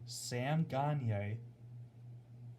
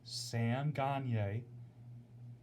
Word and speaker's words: Sam Gagne: Now, for those of you that watched the game on AHL TV, I'm going to pronounce the names correctly for you. It's Kyler Yamamoto from Sam Gagne and Cooper Marody.